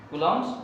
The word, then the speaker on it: Coulomb: बच्चा सी ओ एल ओ एम बी लिख देता है, ठीक है, लेकिन होता है सी ओ यू एल ओ एम बी, कूलम्ब्स लॉ।